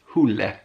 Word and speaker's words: Hole: where I learnt that it's not pronounced Hole. Does he say here how it's pronounced? I'm not gonna try. Oh yeah, Hule.